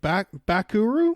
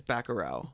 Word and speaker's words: Bacurau: This is I'm gonna butcher the name. Bakuru? I think it's Bacurau. Bacurau. Thank you.